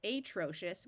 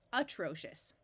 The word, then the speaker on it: atrocious: an a sound so rather than pronouncing this atrocious we pronounce it atrocious here we've divided after the prefix pre or